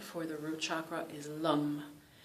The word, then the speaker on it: Lam: the root chakra is lum. It's L-A-M, but it's not pronounced lamb. It's not lamb. It's more, it's the A and the O, like lum, lum. It's like an A mushed with an O, okay?